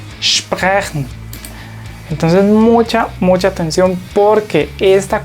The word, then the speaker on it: sprechen: Entonces uno diría aquí share, y cuando la S le sigue una T o una P se utiliza ese mismo sonido sh. Entonces pronunciamos esto stehen, y esta se pronuncia sprechen, sprechen.